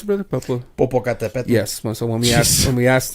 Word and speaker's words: Popocatépetl: asked for the volcano to how do you pronounce it, brother? Popocatépetl.